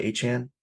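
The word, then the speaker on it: Achane: from Tua Tu uh how did he want to be pronounced aan aan like 4chan but aan yes yeah Devon aan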